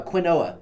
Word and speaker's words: quinoa: a oh kein or no it's like a quinoa that's how that's how sounds yeah that's how